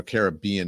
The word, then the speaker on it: Caribbean: Andy, I don't know if you have some of the videos from Jeffrey Epstein's private Caribbean or Caribbean is the correct pronunciation.